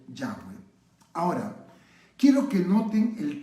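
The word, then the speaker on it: Yahweh: bryce estás cree que la pronunciación más correcta para el nombre que nosotros decimos jehová debió haber sido ya fue ahora quiero que noten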